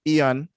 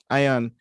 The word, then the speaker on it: ion: could try though um it's actually not pronounced as ian but anybody can pronounce